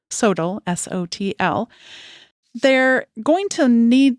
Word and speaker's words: SoTL: This is sometimes abbreviated SOTL, or pronounced SOTL, S-O-T-L.